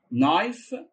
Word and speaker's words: knife: knife knife knife سكين. طبعا حرف الكي دايما قبل الان سايلنت ما بيتنطقش.